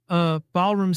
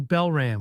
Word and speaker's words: Balram: Balram Singh, he pronounced. She was right. Why didn't you ever correct me? I asked, frustrated. Correct you? He was still oblivious. I've been calling you Belram when it's Balram.